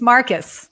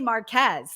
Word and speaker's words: Marques: He told me how to say it, and it's Marcus. Marcus, yeah, it's very complicated. It's French, but it's Marcus. It's Marcus. I want to say Marquez.